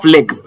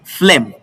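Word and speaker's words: phlegm: Now it is not fleg, it is flem.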